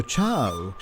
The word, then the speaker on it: Uchao: in colorful communal dancing the festival of achal or chao as it's pronounced in the local kalasha language is one of the